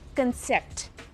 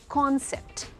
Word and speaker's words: concept: CONCEPT इज नॉट कंसेप्ट, इट इज कॉन्सेप्ट।